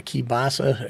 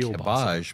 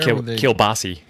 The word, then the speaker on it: kielbasa: Kielbasi, as they say in Baltimore. We're just going to add a whole bunch of syllables that don't exist.